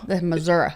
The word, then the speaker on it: Missouri: Missouri. Yes. Is that how you say it? That's how Missourians say it. Missouri. I'm not from Missouri, so we're going to say Missouri.